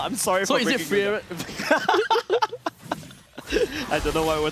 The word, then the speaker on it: Frieren: Frieren. Frieren. Okay. It's like fear run.